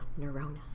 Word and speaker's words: Nerona: neurona nura yeah remember my shirona neona neurona rhymes with yeah neurona sweet well welcome to the podcast thank you